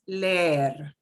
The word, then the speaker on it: leer: But when you get down to the double E, it's leer, okay, creer. Yeah, you just drag it out a little bit longer.